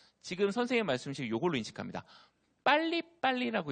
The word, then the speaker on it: 빨리빨리: 빨리빨리라고 있고요. 발음이 어려우니까 팔리팔리라고 불러요.